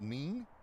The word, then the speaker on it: Nin: And so, with one out and the bases empty here in the fifth, the second baseman Yerald Neen. N I N, but in Espanol, pronounced Neen.